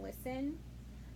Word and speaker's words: listen: Remember, you told me that there's no T in listen, so that is the silent letter.